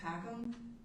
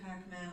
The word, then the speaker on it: Packham: And my name is Shannon Packham, but it's pronounced Packham. I get Pac-Man a lot, and it's just a thing, right?